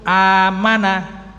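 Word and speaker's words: آمَنَ: Kalau beriman itu amana, A-nya panjang.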